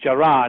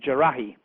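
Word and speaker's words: Jarrah: hijackers or actual hijackers spells jarahi's name wrongly it puts an eye out it's Gerard and they spelled it jarahi um which is a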